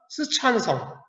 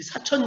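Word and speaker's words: 四川: 촌이라고 할 수 있었던 스촨성, 우리 발음으로는 사천, 우리 사천 요리 많이 들어봤지. 우리 발음은 사천, 중국 발음은 스촨.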